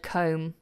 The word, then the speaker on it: comb: styles so Ronnie yes the B is silent in every way use the word comb you forgot to mention